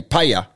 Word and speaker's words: paella: saying it please either so you say paella yeah that's correct thank you um harry